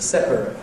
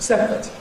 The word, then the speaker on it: separate: The verb is to separate. To separate. To separate. The adjective is usually pronounced separate. How can this be? Well, the usual thing with these pairs with ate suffix is that the verb has ate and the adjective has ut, or for some speakers, it.